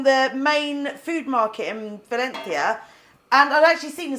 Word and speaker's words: Valencia: how do you say Valencia Valencia yeah if something's like got a zed sound in Spanish it's pronounced with a th so it's not Valencia